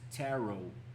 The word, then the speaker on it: tarot: Um, there's this cards Wheel of Fortune, and there's tarot with the silent T written on it.